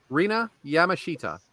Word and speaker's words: Rina Yamashita: Rina Yamashita.